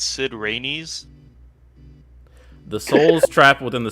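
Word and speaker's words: Cid Raines: on the wiki um you guys are pronouncing it wrong it's sid rainey's the souls trap within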